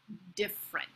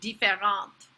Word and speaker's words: different: Different. Did you hear? Not différent, but different. We write the word with three syllables, but only say it with two.